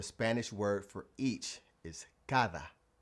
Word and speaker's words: cada: todo todo So, the Spanish word for each is cada. cada Again, if you pronounce it like the D we have in English, you'll say cara, which means face.